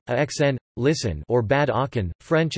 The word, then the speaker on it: Aachen: Aachen, German pronunciation, Aachen, listen, or Bad Aachen, French and traditional English, Aix-la-Chapelle, French pronunciation, Kaslapel, is a spa and border city in North Rhine-Westphalia, Germany.